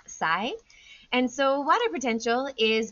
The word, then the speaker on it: psi: use is this trident looking shape and it's pronounced PSI and so water potential is basically a way